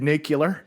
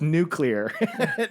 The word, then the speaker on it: nuclear: like I was George I'm from Tulsa so I said nicular that's how they say it and then I said and then I thought in my head I was like oh it's nuclear and killer I think